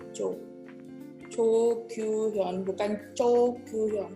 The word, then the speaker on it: Cho: Cho bukan sebetulnya bukan Cho. Bukan Cho, bukan Cho, tapi di Korea sebetulnya adalah marga Jo. Cara membacanya adalah Jo.